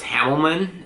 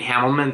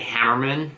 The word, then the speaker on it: Hamelman: It's a play off of my last name, because my last name is Hamelman, and whenever people try to pronounce my last name, instead of saying Hamelman, they always say Hammerman or something like that.